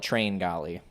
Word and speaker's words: Tringali: little energy in there chiangali i think the cool kids call it train golly a frederick train galley guy we'll end on